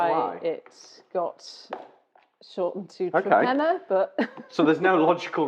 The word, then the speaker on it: Torpenhow: The village that we farm in is called Trepenna to the locals, but it is spelt Torpenhow. Yeah. And no one really knows why it got shortened to Trepenna, but...